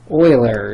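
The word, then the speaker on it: Euler: e e stands for Oiler constant Oiler is spelled e u l e r Oiler you don't need to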